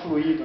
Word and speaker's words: fluido: É o que eu sempre falo, fluido, né? Não, fluido tem que caprichar na sílaba tônica aí.